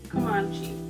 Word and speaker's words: Comanche: We are looking at how to pronounce the name of this Native American tribe. We're looking at how to say just Comanche. Come on. Comanche. okay. Well, I'm going to be saying Comanche. Is that right?